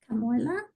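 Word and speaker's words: Kamuela: for you Anna is this close to camela camua I have two people asking about Kam maybe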